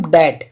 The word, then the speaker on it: debt: एम के बाद और टी से पहले बी साइलेंट होता है। जैसे एग्जाम्पल के तौर पे ले लेते हैं हम डेट।